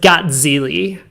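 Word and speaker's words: Gazzilli: Yeah, the Italians pronounce it Gatzili.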